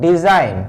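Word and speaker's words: design: तो आपने देखा जब भी जी कम्स बिफोर एन, जब भी जी एन से पहले आता है तो जी का प्रोनाउंसिएशन नहीं होता है। इसीलिए इसको हम लोग पढ़ते हैं डिजाइन, जी का प्रोनाउंसिएशन यहाँ पे नहीं करते हैं।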